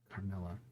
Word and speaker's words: Carmilla: Carmilla Carmine, man. Carmilla. I was saying her name wrong.